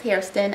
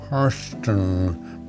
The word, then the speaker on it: Hairston: I'm Hairston. Maybe we don't pronounce the I, but it's spelled that.